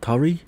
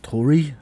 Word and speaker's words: Tauri: life application with uh turi or tori however you want to pronounce that uh what we're gonna